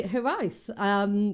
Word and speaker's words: Hiraeth: Hello, I'm now joined by Hireath, which is how you pronounce it.